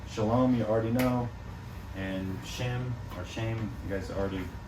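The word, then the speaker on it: שם: pronounced Shem, Okay.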